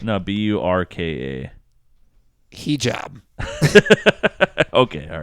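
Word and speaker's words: burqa: Buraka. No, Burka.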